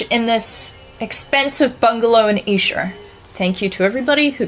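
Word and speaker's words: Esher: Heights and George in this expensive bungalo and iser thank you to everybody who corrected my pronunciation as a quick aside I think it's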